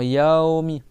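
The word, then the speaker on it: يومِ: Yaomi c'est pas c'est pas yami c'est yaomi. D'accord. Tu fais un A et après avec un Y après un W.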